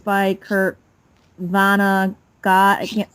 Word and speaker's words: Vonnegut: It's by Kurt Vonnegut. I can't say. Vonnegut? Kurt Vonnegut? Yeah, Kurt Vonnegut. I think it's Vonnegut. terrible. Yeah, that's how you pronounce it.